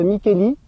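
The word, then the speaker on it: Micheli: meilleur trèfle de tous le trêve de mikkeli pour ça s'écrit michely parce que moi c'est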